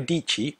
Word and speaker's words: Dietschy: first example Sarah dii Sarah dii rhymes with pachy is a talented filmmaker